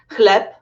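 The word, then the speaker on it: chleb: look at another example to say bread in polish you say clap you should just discover a new rule that basically it's the same sound so ch it's pronounced in the same way lies ike h cleb herbata okay let's come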